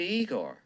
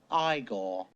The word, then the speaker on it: Igor: isn't it frodewick frankenstein you must be igor no it's pronounced igor walk this way this